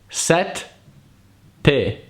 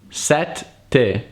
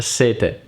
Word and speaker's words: sette: In order to pronounce the double consonants the right way, remember that there is always a pause in there. Imagine the word is split in two. Set, te.